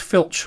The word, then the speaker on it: FLC: one would be like an indicated airspeed or flc pronounced filch mode which is just a